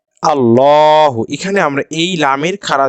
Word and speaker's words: الله: উদাহরণ দেখি এখানে দেখেন আলিফ লাম লাম হা আল্লাহ এখানে আমরা এই লামের খাড়া জবরটিকে যখন জবর